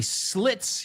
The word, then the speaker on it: slit: So slit rhymes with shit, rhymes with pit, rhymes with lit, rhymes with sit. So are they homophones? Let's say them together. Sleet, slit. Sleet, slit. They are not.